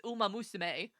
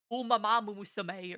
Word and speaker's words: Umamusume: For some reason my when I say it really fast, my brain wants to add in another syllable. Like I know that it's umamusume, but my brain wants to go like umamamusume or something like that. And it's incorrect.